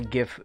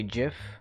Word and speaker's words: GIF: know I'm not a GIF purist. You can you can say GIF and actually the purists would say GIF because the create creator of the file type wanted it to be a soft G.